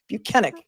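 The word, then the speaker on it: Bukhenik: allow Trooper be buenik we've learned to pronounce his name proper because he told us he was not Michael Proctor he told us that his name is buenik they allowed shu buenik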